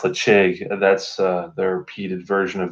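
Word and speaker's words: Ledaig: kind of equivalent to Tobermory has the cheek led AIG this pronounced let's shake that's their repeated version of their whiskey so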